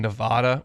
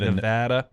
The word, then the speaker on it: Nevada: I said oh my gosh I said in Nevada when we were up it in Seattle for the Washington game in 2009 it's a Nevada no it's Nevada I said Nevada and this gal looked to